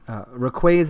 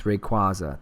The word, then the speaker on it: Rayquaza: My children also tell me that I say Rayquaza is not the proper way to pronounce it. It's Rayquaza.